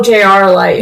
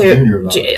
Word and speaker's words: JR Light: Oh, JR Light. Not Junior Light. I said it wrong. See, it's JR.